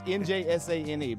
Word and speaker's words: Njsane: But it's Njsane. But yeah, Njsane.